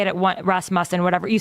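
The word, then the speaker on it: Rasmussen: Oh, I'm pretty sure I recall you saying that, but 48% of people we learned recently that's pronounced Rasm Musen by the guy from Russ Mus who came here.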